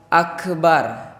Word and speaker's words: Akbar: Jadi Allahu Akbar enggak terlalu akbar, enggak ditunjukin banget. Kalau ya ka-nya itu jangan dipantulkan. Jangan dipantulkannya itu secara jelas itu. Allahu Akbar. Tapi sedikit aja samar aja, Pak. Jangan terlalu jelas karena huruf ka itu tidak termasuk huruf qalqalah.